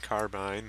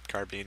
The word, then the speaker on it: carbine: For repair cost, it's about the same as the M1 carbine, or carbine is how it's actually pronounced.